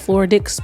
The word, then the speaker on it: Floradix: Spell it, please. Floradix. Okay, DIX. Floridix, not that.